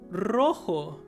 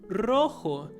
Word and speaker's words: rojo: so yeah for example rojo which means red rojo so my recommendation is to keep on practicing rolling your tongue until you kind of get it right rojo and the next